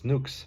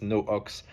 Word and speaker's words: No Ox: Um, because a lot of people tend to think it's Nuks, but it's No Ox. Um, and this is for North of Oxford Street where um, the label was originally founded.